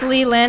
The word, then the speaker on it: Li Lin: now one more time for a lil on everyone it's Li Lin actually but it's okay why people